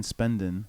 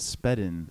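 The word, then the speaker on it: Spedn: pronounce it right once I keep saying spendin but it's actually said I did sped in now but again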